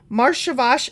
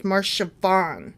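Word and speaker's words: Marcheshvan: Marshavash is sometimes shortened to just Shavan. I mispronounced the first one. It's Marshavan. Okay.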